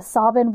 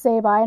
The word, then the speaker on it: Sabine: that musical called The Sobbin' Women that Oh. they make it all sound like these guys don't know that it's supposed to be pronounced Sabine, and ha ha ha,